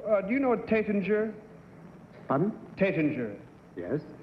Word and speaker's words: Taittinger: Number 1, do you know Taittinger? Pardon? Taittinger. Yes. How do you pronounce it correctly? T-A-T-I-N-G-A-R. Number 3, how do you pronounce that correctly? Tétinger.